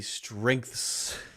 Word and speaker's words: strengths: The pronunciation of that one is there's a n sound, n, and then it goes to the g, n, k, g, k, th, and then you have to go to the th, th, and then